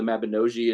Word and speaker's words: Mabinogi: based on the mabinosian Welsh mythology or the Mabinogi is Dave The Bard this told me is the correct pronunciation but so there's like this really kind